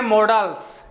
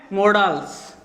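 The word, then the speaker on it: modals: मॉडल्स क्या है? मॉडल्स। देखना, मॉडल्स जो शब्द है उसका प्रोनाउंसिएशन हम करते हैं मॉडल, जबकि रियल में होता है क्या है? मॉडल्स, जिसका हिंदी मीन्स होता है मनोभाव, मन के भाव।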